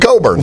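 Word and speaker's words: Cockburn: It's Kofi Coburn. We're all junior high boys. We're all going to mispronounce that one.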